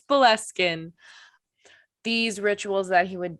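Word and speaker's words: Boleskine: property overlooking loch ness which is called the belleskin house which is not how we pronounced it in the first episode but we checked it this time and it's buleskin these rituals that he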